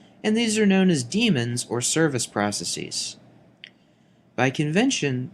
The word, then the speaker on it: daemon: By convention, the word daemon uses its archaic spelling here with an AE in place of the E in the modern spelling. However, the pronunciation is the same.